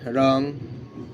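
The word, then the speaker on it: wrong: আর ডি সোরড ডাব আর ও এন জি রং এ এন এস ডব E Arsha N এস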